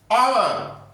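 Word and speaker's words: hour: शुरू हो रहा है एच से लेकिन एच साइलेंट है यहां आवर क्या बोला जाएगा ये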